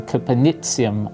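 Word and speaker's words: copernicium: synthesized in japan so copenhagen or caponicium as the discoverers would prefer to be pronounced is the latest name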